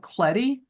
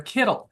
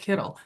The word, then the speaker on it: Kittl: could come in, and I think it's called Cleddy, and I could be pronouncing it wrong, or Kittle. It's called Kittle, and it is like